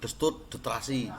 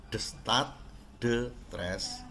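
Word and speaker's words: Destutt de Tracy: Destat de Tres, membacanya hati-hati ya, jangan sampai anak SMP 4 membaca nama itu salah ya. Kamu itu ada di kota ya, jangan Destut de Trasi, jangan ya, membacanya Destat de Tres ya.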